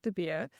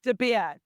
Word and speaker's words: De Beer: I've pretty much had everything, and I try and explain it as beer. You do the whole, you're chugging down a beer. I'm de Beer.